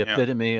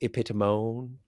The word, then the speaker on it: epitome: The epitome of a Renaissance man. I believe it's pronounced epitomone. Epitome. Epitome. Epitome? Epitome. That's the one. That's what I was looking for.